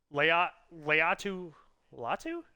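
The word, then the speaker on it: Laiatu Latu: Leatu Latu, that's how you say his name.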